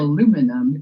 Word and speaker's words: aluminum: N-U-M, so it's pronounced Yeah. aluminum.